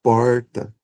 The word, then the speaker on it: porta: Esse R caipira ou retroflexo, a gente chama de retroflexo porque a língua para produzir o R, ela ela ela se encolhe e toca o palato, né? Pronuncia aí para você ver. Porta, porta. A língua faz esse movimento aqui, ó. N. porta tocando ali o palado.